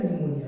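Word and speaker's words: pneumonia: pillar निमोनिया like org निमोनिया का P silent रहता है तो क्या हो गया निमोनिया ठीक है अच्छा अगली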